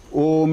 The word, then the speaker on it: Om: So Om is a diphthong. A and U becomes O.